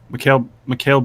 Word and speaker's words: Mikal: Mikal Bridges, 5.4K.